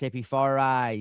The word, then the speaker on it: Hippie-Fari: Well, people call me Hippie-Fari. I'm like, no, come on, man. It's Hippie-Fari. You know, they pronounce it. I'm like, the I is long.